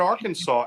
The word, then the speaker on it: Arkansas: truth it is illegal to mispronounce the name of the State Arkansas so if somebody comes down there and says it's nice to be in AR Kansas you're gonna get arrested